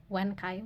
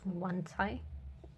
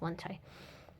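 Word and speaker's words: Wancai: of the spin as wankai which is absolutely wrong because it's not English but also I think in a Japanese video they pronounce it as one Thai but I can't really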